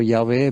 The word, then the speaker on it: Yahvé: equivalente más menos en español y hhwh yah Jehová dicen algunos, pero Yahé más cerca a la forma correcta de pronunciarlo. Es el nombre personal individual de Dios definido como tal por él mismo. Él dice, "Yahé, este es mi nombre.